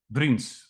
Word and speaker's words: Vriends: Vriends? Vriends. It's a Dutch name.